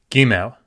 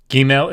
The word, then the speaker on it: Gimel: Gimel. Gimel is the G sound in Hebrew.